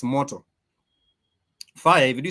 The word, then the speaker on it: moto: you do say fire you were saying mot m o t o which sounds like a Japanese word m o t o Moto is for fire m o t o is motor but if you also